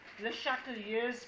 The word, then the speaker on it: Le Chatelier: It's called Le Chatelier's principle. Listen carefully. The way you pronounce it is Le Chatelier. Okay? Obviously, he must have been French.